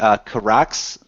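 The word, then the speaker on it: Kihraxz: This is called the Kirax, I believe is how you pronounce that, K-I-H-R-A-X-Z.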